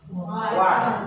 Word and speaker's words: one: Kalau spelling pasti kan ini kan o N iya kan. Tapi kalau baca langsung one.